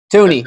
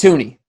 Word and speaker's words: Thuney: Tooney, yep, it's Tooney. Joe Tooney, yep. Because it's spelled like Thuney. Right, but it's Tooney. Okay, Tooney.